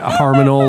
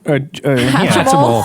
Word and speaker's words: Hatchimal: Or you got a Harmonal or Haminal or whatever they're called. Yeah. Hatchimal.